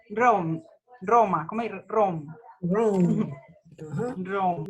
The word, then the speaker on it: Rome: Rome. Ajá. Rome. La E. Yo pronuncio hasta acá.